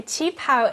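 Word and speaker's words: qipao: pretty how do you say that word again Ching pow Chief pow a chapw is a traditional Chinese dress Lunar New Year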